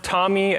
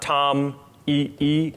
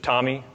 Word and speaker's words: TomEE: out in the middle it's pronounced tommy as in the album or the name or the person uh it's not tom e e it's just tommy and uh then the